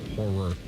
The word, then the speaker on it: horror: I can't watch horror movies, but there was something about the Saw movies. What movies? What did I say? Horror. Two syllables. Horror.